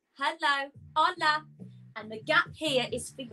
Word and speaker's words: hola: So we say hola, the H is silent, hola, hello, hola.